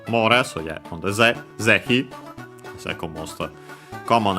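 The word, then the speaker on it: 是非: First Zehi, an adverb, which you might also guess yourself considering the context where it's placed. This one should be accent on the first mora.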